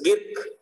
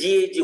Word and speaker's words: gig: It's a gig worker, platform worker, online worker. So what is this GAG worker? It should be pronounced gig worker.